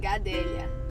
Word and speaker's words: Gadelha: Like in my last name, the LH, we say it's like an LY, like yeah.